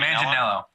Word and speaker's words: Manganiello: I will admit that Joe, how do you pronounce his name? Manganiello.